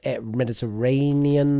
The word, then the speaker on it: Mediterranean: So we missed off the end of Mediterranean there. Which is the similar pronunciation issue of just chopping the ends off.